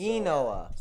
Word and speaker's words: Inoa: Inoa. Enoa. Okay, so Enoa.